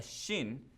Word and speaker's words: shin: you put the dot if the dot is on the right it's called a shin pronounced with a sh sound if the dot is